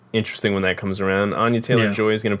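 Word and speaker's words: Anya Taylor-Joy: when that comes around Anya Taylor and joy is going to play uh peach or is it Anya Anya Taylor whatever you actually say her name it's Ania Taylor Joy yeah uh one that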